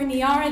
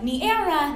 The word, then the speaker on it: Niara: of my name tags niara looks like niera naira naira any area near and sometimes rip slowly and uncertainly out of mouths like niagara as if i'd misspelled my own name without a g when i informed them